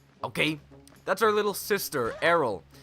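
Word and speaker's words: Aryll: That's our little sister, Errol. I called her Ariel for the longest time. That's not how you spell Ariel, by the way. It is definitely Errol.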